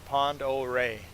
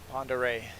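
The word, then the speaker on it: Pend Oreille: So it's a French term from the fur trapper days. And if you Google it, they show the or the pronunciation is Prairie. Prairie.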